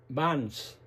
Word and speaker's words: Vance: Vance. Se pronuncia Vance. No Vance. Vance. Ok.